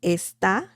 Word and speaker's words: esta: It means, it's pronounced the same, esta. It's a slightly different pronunciation, actually. Esta, this, está.